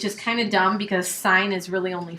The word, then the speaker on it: sine: It is pronounced sine. Okay? So even when you see it written like that, please don't say sin 38. It just makes you sound like you don't know what you're talking about. Okay?